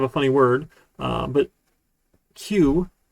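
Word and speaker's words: queue: funny word uh but q right a lot of people think that you just pronounce the first letter and all of the other letters are silent right q-u-e-u-e that sort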